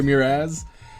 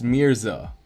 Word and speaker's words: Mirza: I I feel like I've been saying your name wrong I'm so sorry muraz um our mirror it's it's Mirza I've been reading it